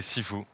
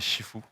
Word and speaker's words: Sifu: C'est Sifu. C'est Sifu. Et ben voilà. Simple, Il y a une efficace. petite nuance, c'est qu'en cantonais, c'est Shifu. Il me semblait bien. Et donc Shifu ou Sifu, c'est la même chose.